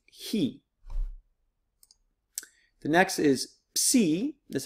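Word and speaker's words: χι: the next one it looks like an X but it has a CH sound it's he the next is see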